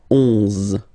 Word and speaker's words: onze: 11, okay, so O plus N give you the sound on, onze, onze, okay, final E doesn't exist phonetically, onze, okay, douze, douze,